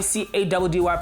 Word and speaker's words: Caddy: Your boy CADDY pronounced Caddy and...